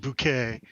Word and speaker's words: Bucket: It's pronounced bouquet, Bucla. but it's spelled bucket.